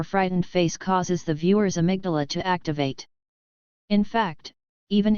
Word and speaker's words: amygdala: a region of the downstairs brain called the amygdala, pronounced amygdalu, which is responsible for quickly processing and expressing strong emotions, especially anger and fear.